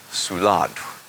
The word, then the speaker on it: spuladx: I'm going to say it one syllable at a time, and you repeat after me. Odd. The first syllable, su. Notice there's actually a stop after the S and before the U. So the first syllable is actually s, and the second syllable is u.